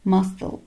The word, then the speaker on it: muscle: طب هنا بقى السي اتنطقت زي الاس، ده exception، ده حاجة كده استثنائية. muscle muscle يعني عضلة.